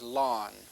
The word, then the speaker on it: ln: The pronunciation commonly used here is lawn, like the lawn on your front yard.